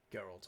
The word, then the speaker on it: Geralt: That's how you say it, of course. Gerald. Geralt of Rivia. Not Gerald.